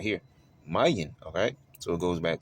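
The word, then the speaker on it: ma'yan: It will be m a i uh y a n if you spell it out. But look at what it has right here. Mayan.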